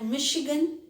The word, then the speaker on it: Michigan: thick mustache okay so these are the words where ch is pronounced as sure there are many more words like michigan chicago michigan it's a state of united states chicago it's a city of united states so there are if